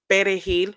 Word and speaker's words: perejil: So in Spanish, parsley is pronounced as perejil with a R, pere. And of course, Haitian, speaking Haitian Creole, um, they say pelejil.